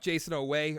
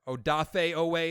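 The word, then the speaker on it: Odafe Oweh: very soon they got jason away or odafa away is how you say his name kind of straight like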